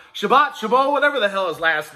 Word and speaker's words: Chabot: That's not how you pronounce his name. Look, I saw the phonetic spelling. It said Shabbat, so I call him Shabbat. Chabot, whatever the hell his last name is.